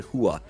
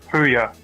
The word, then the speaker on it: Huya: these Chinese streamers on Hua. I hope I'm pronouncing that right, by the way. Yeah, I'm not sure how it's pronounced. It's Huya. Ooh yeah.